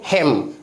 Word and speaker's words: hymn: हेम।